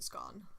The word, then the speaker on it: scone: It's a scone. Does it rhyme with gone or does it It's a rhyme scone.